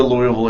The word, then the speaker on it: Louisville: behind them how far down into Kentucky the Louisville area you've said it right Louisville no no